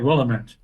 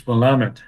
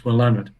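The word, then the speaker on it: Willamette: um by the way I learned how to pronounce willamet from a person lady from Oregon I was calling it willamet she says no no it's wamit right sorry it's wamit okay now the wamit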